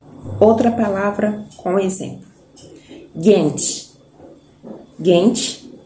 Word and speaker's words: genç: Gente termina com C, com cedilha, que a pronúncia é tche.